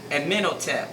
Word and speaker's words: Amenhotep: Amenhotep, right? Yes, ma'am. Amenhotep.